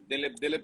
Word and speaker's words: Dilip: Dilip, it's Dilip.